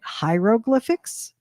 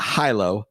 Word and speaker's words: hieroglyphics: Hieroglyphics? Hieroglyphics. Hieroglyphics. Not hilo, hieroglyphics.